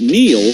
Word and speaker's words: Neil: it's no coincidence that Neil rhymes with deal because that's something you